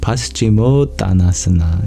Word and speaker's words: Paschimottanasana: How do I pronounce it? Paschimottanasana.